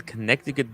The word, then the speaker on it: Connecticut: C, by the way, Tim, is silent. Yeah. So it's Connecticut.